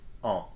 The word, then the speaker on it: ans: And don't pronounce the S of this word, okay? Just en, that's the nasal sound.